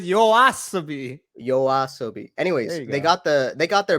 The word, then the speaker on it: YOASOBI: Isn't it Yaosobi? Yoasobi. Oh, fuck it. Dude, you suck with pronunciations. Holy shit. Yeah, sorry, I'm not fucking Japanese. But you don't have to be Japanese, just read, bro. It says YOASOBI. Let's just say that doesn't say Yaosobi.